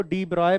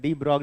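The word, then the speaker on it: de Broglie: इनका तो और खराब इसको डी ब्रॉय पढ़ते हैं डी ब्रॉय डी ब्रॉय ब्रॉय ब्रॉय य जी और एल जो है वह साइलेंट है है ना डी ब्रॉय पढ़ते हैं पर तुम क्या पढ़ते हो वह मैटर करता है डी ब्रॉग बोलते हो तुम लोग मैं भी आज के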